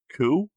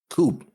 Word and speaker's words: coup: Obviously, the first thought is coup. What? Coup. COUP. C-O? Coop.